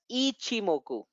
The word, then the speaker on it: Ichimoku: You know, the pronunciation is always Fibonacci. So similarly, it's not Ikimoku or Ichimoku. It is officially called as Ichimoku.